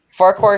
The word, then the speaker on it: Farquhar: Farquhar sheds are built. Vickerstown shed is completely demolished. It's pronounced Farquhar.